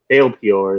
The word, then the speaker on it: Baal Peor: Baal Peor is how it's said.